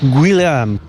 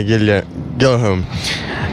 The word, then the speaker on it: Guilherme: I don't think I can pronounce it, but I'll give it a go. Guilherme. Guilherme. Guilherme. Yeah, Guilherme.